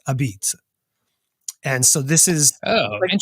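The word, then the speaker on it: apizza: neopol dialect and so it's spelled a p i z zaa but it's not a pizza it's a beat and so this is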